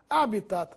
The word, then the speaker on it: habitat: pronúncia é Abas Corpus habitat assim como habas Corpus habitat é uma palavra por isso não recebe acento gráfico mas se pronuncia como se fosse proparoxítona habitat ibero ibero é